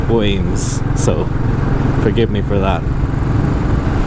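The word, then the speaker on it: Wemyss: Also, I found out that Wemmies, and I think that's how I pronounced it in the Danesford video, is actually pronounced Weems, so forgive me for that.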